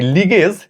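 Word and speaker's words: ligase: উত্তর হবে লাইগেজ enzyme. লাইগেজ এটাই উত্তর হবে। তবে এখানে আরেকটা সমস্যা আছে তোমাদেরকে বলি। দেখো এই লিগেজ এটাও কিন্তু লাইগেজেরই আরেকটা উচ্চারণ।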